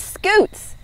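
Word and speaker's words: Scutes: other turtle ambassador is scoots he has a very cute name but I bet it's spelled differently than what you're thinking SC u t e s a scoot is a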